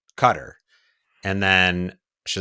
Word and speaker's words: Qatar: gotcha qarar cutter yeah depends on where in the world you're from it's very true I told Heather I was like I'm pretty sure it's pronounced cutter and then she's like no it's Qatar and then we're on